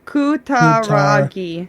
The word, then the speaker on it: Kutaragi: his name, but Ken Kutaragi. Kutaragi-san. Yeah, Kutaragi-san. I always just remember it's all syllables, and if it ends in a vowel, the syllable is done.